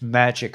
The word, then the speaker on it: Majic: No, it's not Majestic Eyes. It's Magic Eyes, but it's spelled MAJIC Eyes Only on Rumble.